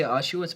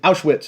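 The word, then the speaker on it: Auschwitz: about ashz he never can we say ashz but not the you can say it correctly Ash witz as witz so we're not going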